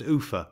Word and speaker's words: Ulpha: The next place of any consequence after leaving Seathwaite is Ulpha, pronounced Ufa by the dalesmen.